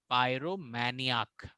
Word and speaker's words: pyromaniac: सो यहाँ पे spelling change नहीं हुआ है, यहाँ पे NI जो है वो NEE हो गया है, और जो लास्ट में AC है वो AK हो गया है एज अ प्रोनाउंसिएशन की। तो ये है प्रोनाउंसिएशन की ऑफ पायरोमैनियाक, पायरोमैनियाक।